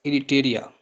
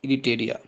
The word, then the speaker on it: Eritrea: Third है हमारे पास इरिटेरिया, ERITREA, इरिटेरिया। और फोर्थ है हमारे पास जिबूती, जिबूती के स्पेलिंग आप लिख लें, DJIBOUTI, जिबूती।